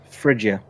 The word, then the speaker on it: Phrygia: How do you say that? Is it Phrygia or Phrygia? Phrygia. Phrygia? Phrygia. Okay, cool. Frigid. Okay. Mostly right. It's like fridge. Like fridge.